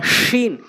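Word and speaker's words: ش: সা এটা শিন, শিন অর্থাৎ জিব্বার মাঝখান উপরে তালের সঙ্গে শিন, শিন।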